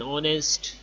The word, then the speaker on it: honest: sound for example an umbrella an hour an honest an apple etc notice that the words our